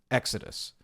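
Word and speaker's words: Xy'Dus: This is this is pronounced Exodus.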